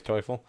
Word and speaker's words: Teufel: We got Tufel, or Teufel, however you want to pronounce it. The right way is Teufel.